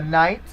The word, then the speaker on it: knight: You have the big letter N, which is a symbol for the knight, because the K in the word knight is silent.